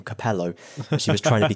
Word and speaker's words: Capello: Capello even though Fabio Capello is Italian and pronounces his name Capello I was trying to be clever you see